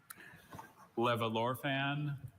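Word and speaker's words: levallorphan: Levorphan.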